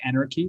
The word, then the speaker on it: AnRKey: And I'm actually, when I looked at your project, AnRKey X, and first of all, the pronunciation was pretty interesting to me, right? Like anarchy.